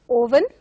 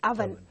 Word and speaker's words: oven: So usually people mispronounce it as oven, but it has to be pronounced as oven.